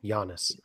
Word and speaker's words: Giannis: they are sending us giannis be honest - be honest is that how you say his name Yanis yeah okay I hear it like a million times and they still get it wrong yeah I'd say I'd